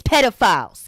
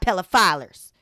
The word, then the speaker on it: pedophile: The word is pedophile, not pedophilers, okay? Or whatever word she said, it was wrong.